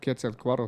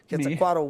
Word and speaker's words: Quetzalcoatl: But anyway, let's get back to talking about the Quetzalcoatl story.